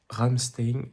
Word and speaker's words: Ramstein: On a fait Ramstein, ça se prononce comme ça jusqu'à Ribauvillé aujourd'hui 23 km en passant par le Hokonitburg.